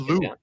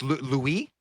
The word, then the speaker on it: Louis: He's an agent now, so I've always said Lou. It's Louis. Mike Louis. Okay, I'll say Mike that. Louis. I've said that wrong my whole life.